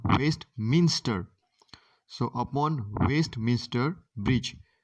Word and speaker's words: Westminster: is upon westminster bridge don't mispronounce it is not waste minister it's called best minster so upon waste mr